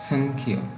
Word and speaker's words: সংখ্যা: Number 6, অনুসারের উচ্চারণ শব্দের মাঝে হলে দন্ত ন হবে এবং শব্দের শেষে হলে ময়ের মতো উচ্চারণ হবে। উদাহরণস্বরূপ সংখ্যা। এখানে দেখুন, এই সংখ্যা অনুসারের মাঝে রয়েছে, যার সংস্কৃত উচ্চারণ হবে সংখ্যা।